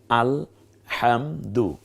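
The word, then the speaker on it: الحمد: আলামিন এগুলো ভুল হবে আল একে অকে আকার দিয়ে আ দেখুন স্ক্রিনে তারপর শুধু ল হবে কি আল হাম হ আকার শুধুমা হাম দরের রসুকার আলহামদু আলহামদু আকবারু আকবারু আক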